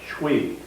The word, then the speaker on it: chui: Chui is pronounced as though it's one syllable, chui.